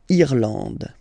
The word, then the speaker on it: Irlande: Remember, this is E, and it should be pronounced like E. Irlande. Okay. A-N, en, D, and final E, not pronounced. Irlande.